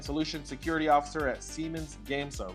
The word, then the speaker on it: Gamesa: Well, you had it right because you said Gamesa because that's what it looks like, an easy way to spell it.